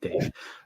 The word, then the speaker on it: D4V3: It's spelled D4V3 or VE, I don't know, but it's D4V, yeah, to make Dave.